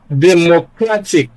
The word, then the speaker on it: democratic: Now look at democratic. So you count from the end of the word. The first syllable is TIC, the second one is CRA, and that is where stress is placed. Democratic.